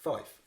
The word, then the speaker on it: Fife: So, how do you pronounce the place in Scotland? Is it Fife or Fife? Fife.